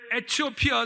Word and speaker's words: 에티오피아: 일어나 가서 보니 27절에 에티오피아 사람 곧 에티오피아, 제가 에디오피아를 에티오피아라고 읽겠습니다.